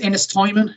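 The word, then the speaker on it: Ennistymon: I think it's Ennis Timon is how you pronounce the second one.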